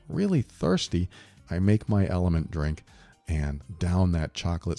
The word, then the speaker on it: LMNT: tell you about element it's lmnt it's pronounced element and it's formulated to